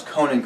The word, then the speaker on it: Conan: I'm trying to pronounce Conan correctly, but I'm pretty sure if I'm doing it right, it's Conan, not Conan, which is the way I like to say it with my Midwestern draw.